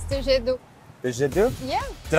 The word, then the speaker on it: jet d'eau: It's the jet d'eau. The jet d'eau? Yeah. Did I pronounce that right? Yeah, jet d'eau.